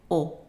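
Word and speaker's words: eau: u or u a and this one is pronounced as an open o o also the Au is pronounced open o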